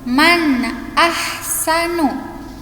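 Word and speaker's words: مَنْ أَحْسَنُ: Contoh nun sukun man ahsanu. Jadi bacanya nun bertemu hamzah, jadi harus jelas, nggak boleh samar ya.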